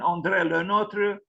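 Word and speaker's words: André Le Nôtre: so umbrella Notre uh I'm not reading the pronunciation that's this is the pronunciation Andrea Notre uh born on the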